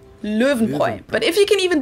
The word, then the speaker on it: Löwenbräu: so V, and the R is pronounced in the back of your throat, like in French. But if you can do a rolled R like in Spanish, that works too. So then if you put it all together, it's Löwenbräu. Löwenbräu.